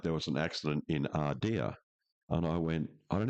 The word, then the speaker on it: Ardea: Is Ardea. Yeah. Oh, how do you spell that? A-I-D-E-R. A-I-D-E-R. A-R-D, yeah. Ardea.